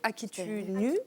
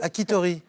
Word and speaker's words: Akita Inu: tout cas, Akan, elle est issue d'une race de chiens japonais, les Akita-Inu. Akitori.